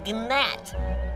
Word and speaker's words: gnat: me you are a gnat there's a g silent it's not are you